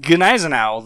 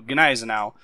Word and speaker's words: Gneisenau: It is pronounced Ganisenowl. The G does have a hard sound and the EI makes an I sound. So Gizenowl.